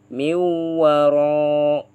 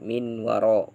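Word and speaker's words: من وراء: bertemu dengan huruf wow maka dia didengungkan miuwaro bukan Min Waro baik kita melangkah selanjutnya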